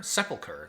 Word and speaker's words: sepulcher: are the gates okay so i looked up how to pronounce this subculture sepulcher sepulcher that's right sepulcher ghoul it's just